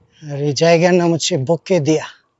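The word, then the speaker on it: Bukedea: আর এই জায়গার নাম হচ্ছে বুকে দিয়া। বুকে দিয়া, বুকে দিয়া আর বুকে ডেয়া। লিখলে তো একরকম হয়, আর উচ্চারণ করতে আর কি ভিন্ন রকম।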